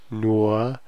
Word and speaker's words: nur: So this is nur. The U is not going to be nu, it's nur. Really, the er is kind of changing the pronunciation of the U.